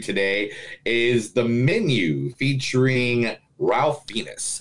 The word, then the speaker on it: Ralph Fiennes: menu featuring Ralph Venus actually it goes refines for some reason to pronounce the L on this but oh yes we totally had this conversation the last time we did it it's refunds take you with me